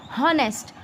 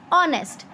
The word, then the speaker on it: honest: Okay, we always pronounce it as honest. So you can see when you speak honest, you are making a sound of o.